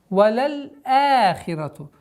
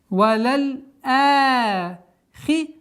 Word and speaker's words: وَلَلْآخِرَةُ: Если буква хамза находится между лямом и алифом, значит алиф, удлинительный алиф, подчиняется букве хамза. Валяль ахирату.